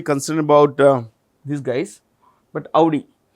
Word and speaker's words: Audi: I am not really concerned about these guys, but Audi. Audi, that's how you pronounce it.